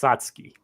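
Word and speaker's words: Satsuki: Yes, it's pronounced Satski.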